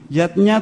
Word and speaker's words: yajna: Yatnya tulisannya yajna ayah bunda, tapi membacanya yatnya.